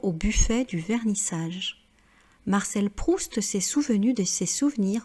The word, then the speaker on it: Proust: Alors ici, vous voyez qu'on ne prononce pas la lettre T, sauf dans le cas du nom de famille Marcel Proust, parce que c'est un